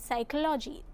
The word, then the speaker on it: psychology: In the word psychology, the letter P is silent.